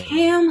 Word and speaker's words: Kham: Cam who rhymes with ham.